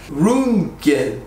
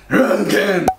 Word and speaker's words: Röntgen: Röntgen. Röntgen. Röntgen. Röntgen. Röntgen. Okay, now try. Röntgen. You gotta make it like an angry face when you say.